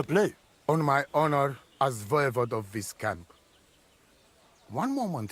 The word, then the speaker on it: voivode: Voivode, that's how it's pronounced.